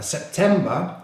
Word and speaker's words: September: Now September is a 3-syllable word with the stress on the 2nd syllable. September, September.